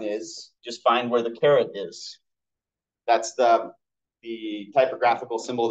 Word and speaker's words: caret: can still say 5,280 caret 3. Interestingly enough, again, me with weird words. It's not spelled like carrot like jewelry or carrot like the vegetable. It's C-A-R-E-T.